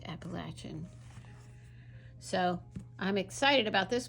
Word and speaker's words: Appalachian: set in Appalachia Appalachia for some reason people say Appalachian but it's really Appalachian is how you say it Appalachian so I'm excited about